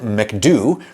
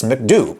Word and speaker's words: McDo: Like, I'm American, McDonald's is from America, but I don't get mad when French people call it McDo. That's a thing they really say in France, McDo.